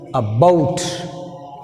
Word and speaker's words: about: Now take second word, about. About. See here, a is weak prefix. So that's why you take stress falls on second syllable. Stress falls on the second syllable.